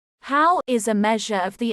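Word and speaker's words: Haugh: The Hoare unit, pronounced how, is a measure of the internal quality of an egg.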